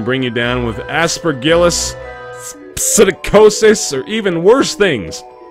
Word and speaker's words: psittacosis: Everybody knows that even just talking to him can bring you down with aspergillus, psittacosis, or even worse things. Worse than psittacosis. The P is silent, but only after you're dead.